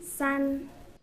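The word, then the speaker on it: 三: How do you pronounce 2? And 3? San.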